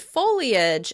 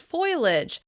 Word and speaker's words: foliage: You may also hear people pronounce the word "foliage" as "foilage," shifting that /i/ sound before the /l/ sound.